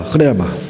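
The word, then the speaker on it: ῥῆμα: 어쨌든 성경이 먼저 계속해서 말씀이 드렸지만 이렇게 노고스가 흐레마, 우리가 흔히 이제 레마 이렇게 하는데 영어식 발음이라겠죠. 흐레마, 원래 헬라어는 흐레마로 돼 있어요.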